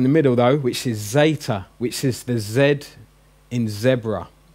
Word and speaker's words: zeta: a DS it so if it's in the middle of a word like after an iota it's going to have a DS edit dessert sound but